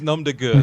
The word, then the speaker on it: nom de guerre: It's nom de guerre.